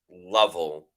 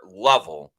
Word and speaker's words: Lovell: Forgive me, but it's pronounced Lovell, like shovel.